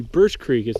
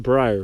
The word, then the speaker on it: Birch Creek: Just finished the Birch Creek. It's not Briar, Birch Creek. I keep saying it wrong.